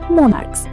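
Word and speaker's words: monarchs: যদি সিএইচ এর উচ্চারণ চ না হয়ে বাংলা ক এর মত হয় তখন কিন্তু শুধু এস বসবে। যেমন সুন্দর প্রজাপতি যে ফুলের উপর বসে আছে সেই প্রকৃতির রাজা বা মনার্কের শেষে সিএইচ এর উচ্চারণ ক হওয়ায় প্লুরাল হবে মনার্কস। এই ট্রিক্স গুলো খাতায় নোট করে রাখুন।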